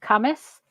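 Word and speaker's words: Cambois: not far from us there's a place called cus and it's spelled c a m b o i s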